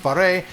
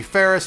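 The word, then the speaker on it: Phres: It's P-H-R-E-S, it's pronounced Faré. People call me Ferris, Ferries.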